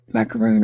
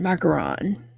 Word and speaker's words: macaron: Macaroon or macaron? Macaron. I'm sure it's macaron.